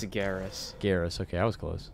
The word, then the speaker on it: Garrus: It's Garrus.